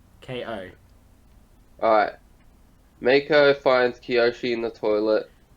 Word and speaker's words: Meiko: Um, Maiko finds Kiyoshi in the toilet, I think it's who pronounced somehow, Mako. you sure? Yeah, because it's Meiko.